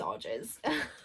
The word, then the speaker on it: Arges: So ages, but with an R, so Arges. Arges? No, it's Arges.